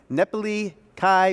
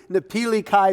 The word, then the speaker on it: Napili Kai: is a getaway to nepali kai beach resort in hawaii did i just mispronounce that one as well how about napili kai beach resort in hawaii